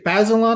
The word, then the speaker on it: Bazelon: So, Jennifer Mathis, the the deputy director of the Bay Bazelon, I think it's pronounced, the Bazelon Center for